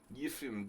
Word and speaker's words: Yefim: Yefim. I mean, you know, you got to say it like a Russian. Yefim Giller.